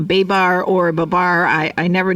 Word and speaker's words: Babar: dissect children's books like Babar or Babar I I never know how to pronounce that word but that quickest Babar I mean that's how the French say it anyway I was in